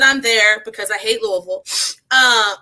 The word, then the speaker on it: Louisville: because so I'm from Alexi in Kentucky and Louisville which is the the correct pronunciation L I've always heard um oh we